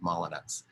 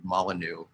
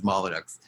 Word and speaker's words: Molyneux: people call them edward molyneux because of its french spelling but he always insisted it was a good english name and he said people